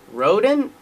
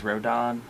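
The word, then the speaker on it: Rodón: it is now uh rhodan rodent i always said rodon when i was listening yesterday it's don yeah the don i just checked the baseball reference pronunciation and it is rodon yeah growing up you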